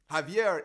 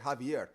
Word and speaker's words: Javier: That's because in Spanish, the J in Spanish or G sounds like H.